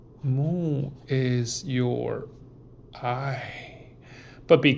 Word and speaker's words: 目: Mu is your eye. But be careful, this mu is exactly same pronunciation with the 5 elements mu.